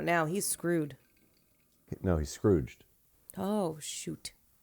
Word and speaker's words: Scrooged: he's screwed no he's Scrooged oh shoot I thought the G was silent Oh piss off G wait it is a soft G he's